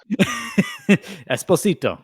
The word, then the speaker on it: Esposito: Esposito for everybody else yes it should be Esposito that's how you say it but no the him